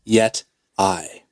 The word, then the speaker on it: Yeti: I will all right actually not the correct pronunciation is yet I okay all right so